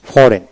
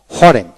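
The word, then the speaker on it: foreign: sign S এ আই N sign এখানে জির উচ্চারণ হলো না এস আই এন সাইন তারপরে সাইনড সাইন তারপরে আসেন ফরেন এফও আর ফর ই আই জি এন ফরেন এখানে কিন্তু এফ আর ফর ই আই এন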